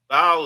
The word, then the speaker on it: Baal: Baal is like the son of El, but Baal is actually pronounced by the Canaanite or Phoenician people as Baal, Baal, and so that's El and Bay.